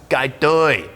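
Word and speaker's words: ไก่ทอด: This is a fried chicken dish known in Thai as gai toi. And on the side here, gai toi sot. Hey, Mark Wiens, how's my pronunciation?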